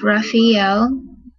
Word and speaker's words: Raphael: it talks about his name which is actually pronounced raphael but i say raphael because i just like it better but i'm